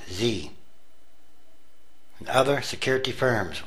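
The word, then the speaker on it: Xe: has renamed itself XC Services pronounced Z and other security firms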